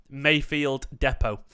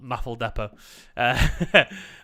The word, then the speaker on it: Mayfield Depot: Mayfield Depot, not Maffle Depot.